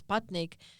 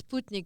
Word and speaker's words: Sputnik: So perestroika has become an international word, just like Sputnik, which is mispronounced as Sputnik, but it's Sputnik.